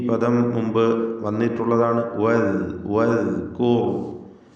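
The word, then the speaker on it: وَاذْكُرْ: വദ്കൂർ, വാവ് ചുണ്ടുകളിൽ നിന്ന് ഉച്ചരിക്കണം. ചുണ്ടുകൾ വൃത്താകൃതിയിലായി ഇടക്ക് ചെറിയ വിടവോടുകൂടിയാണ് വാവിൻ്റെ ഉച്ചാരണം ഉണ്ടാവുക. ദാല് കൃത്യമായി മഖ്റജിൽ നിന്ന് ഉച്ചരിക്കുക. നാവിൻ്റെ അറ്റത്തിൻ്റെ മുകൾ ഭാഗം മേലെ മുൻപല്ലിൻ്റെ അറ്റവും ചേർത്ത് ദാൽ ഉച്ചരിക്കണം.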